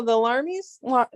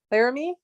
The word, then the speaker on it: Laramie: I think the Larmies. I can never say it right. Laramie, Laramie.